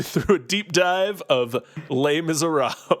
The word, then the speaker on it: Les Misérables: Today we'll be leading you through a deep dive of Les Misérables.